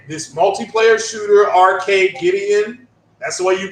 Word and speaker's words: Arcadegeddon: But it's this multiplayer shooter, Arcade Gideon. That's the way you pronounce it. I shout out to Marlon Gaming Nation. He has some issues pronouncing it. It's Arcade Gideon. It's like Armageddon.